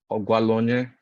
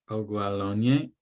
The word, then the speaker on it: Ogwaluonye: And, is your surname pronounced Ogwaluonye? You kind of have to go up. Ogwalonye. You have to go up. Ogwalonye. Yes. Second tone.